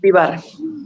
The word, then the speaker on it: Vivar: I'm not sure how to pronounce. Yeah. It's Vivar.